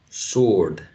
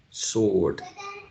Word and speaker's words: sword: you think w exactly w is not pronounced so when we read this we have to read it as sword sword sword um the next